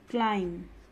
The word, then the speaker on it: climb: which means confidence and style bomb be silent climb calm lamb subtle this is not subtle this